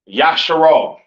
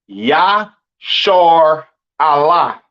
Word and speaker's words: Israel: And Israel is not pronounced Yasharal. It's not pronounced Yisrael in the Hebrew. That is not how you pronounce Israel. Israel is pronounced Yashar Allah.